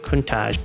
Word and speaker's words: Countach: The name originated from the word pronounced Countach, an exclamation of the astonishment in the Piedmontese language.